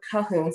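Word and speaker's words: Cahun: uh her name is claude kuhn she's uh or called kahun so it's spelled c-a-h-u-n and she was referencing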